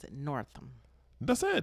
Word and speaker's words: Northam: I think they pronounce it Northam. That's it, Northam. Northam.